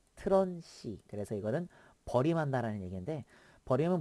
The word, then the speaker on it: TRUNC: 그 다음에 이거 저는 이제 이거 읽을 때 트런 c라고 읽어요 트런시 그래서 이거는 버림한다는 얘기인데